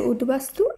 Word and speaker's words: উদ্বাস্তু: আমরা শুদ্ধভাবে উচ্চারণ করব শব্দগুলির উচ্চারণে ব ফলার কোন পরিবর্তন হবে না তাই উদ্বেল এই শব্দের শুদ্ধ উচ্চারণ উদ্বেল এভাবেই হবে উদ্বেগ এর শুদ্ধ উচ্চারণ হবে উদ্বেগ উদ্বাস্তু এর শুদ্ধ উচ্চারণ উদ্বাস্তু উদ্বোধন এই শব্দটিরও শুদ্ধ